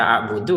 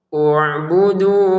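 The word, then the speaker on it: اعبدوا: Daripada bacanya salah nanti baca a' buudu salah. Bagi yang paham dibaca ududu ya. Ubuduakum. Misalkan kita ya ayu ya ayyuhanasuakum. Berhenti di sini mau ngulangi dari depan. Ubudu rabbakum.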